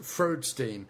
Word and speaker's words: Freudstein: It's actually pronounced Freudstein.